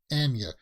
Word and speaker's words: Anya: Anya Taylor Joy not Anya Taylor Joy herself said that she says it's Enya it's just difficult for